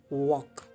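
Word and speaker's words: walk: टहलना या चलना एक ही बात है, जैसे आप देख रहे हैं पिक्चर में, वॉक, एल साइलेंट है।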